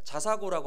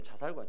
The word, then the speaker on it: 자사고: 공부를 잘해요 그러다 보니까 자사고고 하나요 예 발음 잘해야 돼 자살고 자사고 자사고 예 자리 평 살